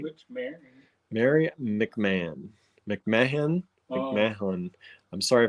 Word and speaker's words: McMahon: It is pronounced McMahon.